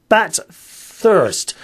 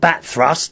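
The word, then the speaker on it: Bathurst: Bat thirst. Bat thirst, not bat thrust.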